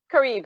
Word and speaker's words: Carib: Carib is how I pronounce it.